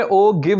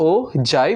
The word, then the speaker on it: ogive: actually क्या है okay नहीं भाई इट्स हो जाए वो गिव नहीं हो जाए लिखने में ओ गिव जैसा ग रहा है ठीक है बट आईटी इस प्रोनाउंसड स ओ जय बहुत सारे लोग मुझे